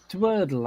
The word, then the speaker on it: Dwordle: Dwordle, as in double Wordle.